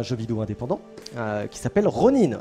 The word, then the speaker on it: ronin: vidéo indépendant qui s'appelle ronin attention ça se prononce ronin pour les puristes ok peut prononcer rhône on en voudra pas nous faire la française mais voilà on le dit ronin doc ronin bah écoutes